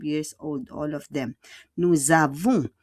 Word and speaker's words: nous avons: Nous avons, faites en liaison. Yung S, the S will become a Z.